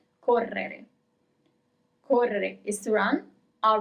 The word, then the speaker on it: correre: To run is correre, double R, correre. You see, it's a little bit longer over there where we have the double R, correre.